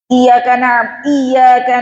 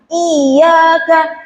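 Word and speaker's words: إياك: Kenapa ini kok bacanya iyyaka bukan iyyaka?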